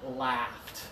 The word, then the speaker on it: laughed: foot this side yeah you gotta open up the sound comes from the back and the sides and what happened when I made a joke Marcela laughed okay ah Marcela last